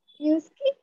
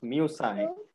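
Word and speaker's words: Musci: Pronunciation is very important. It's called? Muski? No, no. Muski, muski nahi lagane ka. It's musai.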